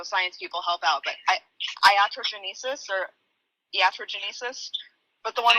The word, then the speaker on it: iatrogenesis: say this, so science people help out, but iatrogenesis or iatrogenesis, but the one where like once you Iatrogenesis.